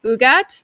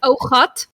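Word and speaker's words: ougat: It's actually Afrikaans, and it's not actually pronounced Ugat. That's the American way of saying it. It's actually Ogat. Ogat. Okay, you gotta get that G sound, that in the back.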